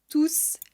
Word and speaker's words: tous: Tout ou tous les oiseaux chantent dans les arbres. Je dois dire tous les oiseaux chantent dans les arbres, sans prononcer le S.